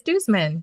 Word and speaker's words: Duzman: I'm only on Instagram because that's all I can handle at Duzman. And you know what? If people didn't know how to pronounce that yet, it's Duzman. DUSMAN.